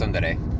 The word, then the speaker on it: tsundere: Tsundere, Tsundere. yeah. What is this tsundere? You looked it up, Freddie. You should know. It means Or more that- correctly pronounced tsundere.